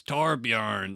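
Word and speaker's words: Torbjörn: Amari and torbjorn Lindholm is that torbjorn tarb yarn that's yeah that it's tarp yarn that's how they say it in the game okay other founding members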